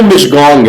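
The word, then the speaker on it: Michaung: और इस बार का जो साइक्लोन आया है उसको मिशगोंग कहते हैं, है ना. इसका प्रोनाउंसिएशन जो है ना वो मिशगोंग है.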